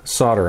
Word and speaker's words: solder: Yeah, you're going to hear me saying solder instead of solder. I'm trying to get into the habit of it. Technically, it is pronounced solder, because there's an L in it.